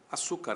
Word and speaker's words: açúcar: E se você pegar a palavra açúcar, açúcar, açúcar é paroxítona, mulher é oxítona, certo?